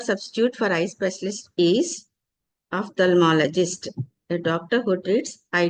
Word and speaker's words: ophthalmologist: So eye specialist, the one word substitute for eye specialist is ophthalmologist. A doctor who treats eye diseases is called as a ophthalmologist, not ophthalmologist, because ph will pronounce as a fa, phone, phone.